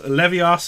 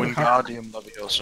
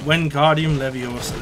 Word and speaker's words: Wingardium Leviosa: I meant to say Leviosa. How do you say it? What's the name of it, Storm? How do you say it? Lingardium Leviosa, that's the one. Or something like that. Stop it, man. Stop it. Is that how you say it, Dale? Dale, you're a Wingardium Leviosa. Wingardium Leviosa. There we go.